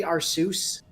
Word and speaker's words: Arceus: I'm gonna settle the Arceus versus Arceus debate right now. It's actually Arceus, like you pronounce the end of it like Zeus, except with a C in the front.